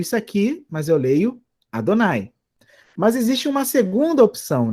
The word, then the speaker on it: Adonai: O nome de Deus, quando aparece na Bíblia hebraica, é pronunciado de duas maneiras. É pronunciado, como quem pode ler aqui, a primeira palavra da esquerda, da direita, melhor dizendo, Adonai.